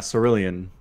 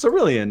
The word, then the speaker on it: cerulean: do you pronounce this map thoroughly cerulean fall Sarah Lee uh yeah cerulean okay is that the official pronunciation yes okay just cerulean it's a it's a color is it yeah